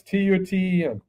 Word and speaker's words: Tuten: It's not Tuten, but I'm going to say that's okay. Toot your horn. Yeah. Touch your own horn, right? So, you know what? Again, I don't care about I could spell it. It's Tuten.